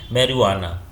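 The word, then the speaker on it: marijuana: है इसमें साइलेंट है मेरवाना इसको बोलेंगे मेरवाना या जे जो है यहां पर क्या होता है साइलेंट होता है तो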